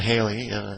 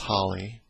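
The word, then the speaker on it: Halley: it's or edmond holly sometimes called haley haley's comment that's generally the way it's called in the united states but it's most likely pronounced holly a short period comment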